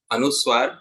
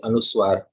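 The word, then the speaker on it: anusvara: see here Shri rupam this um is anuswar it is called as anuswar it is pronounced as um and it has to have a slight slight very slight nasal touch so it has to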